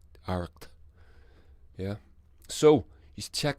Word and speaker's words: Arracht: Aracht. CH is pronounced. You get a wee throaty thing going on with CH in the Irish language. So you get, and then the T at the end of it.